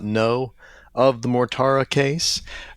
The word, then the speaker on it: Mortara: So this book treats of essentially the Mortara case, or the Mortara case, I guess it would be with proper pronunciation. Nice Italian. Grazie.